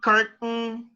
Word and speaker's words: curtain: another word mountain cotton curtain these three words has a silent t mountain cotton curtain all